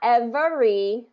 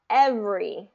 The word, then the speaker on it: every: evening evening good and not every but every every okay and let's do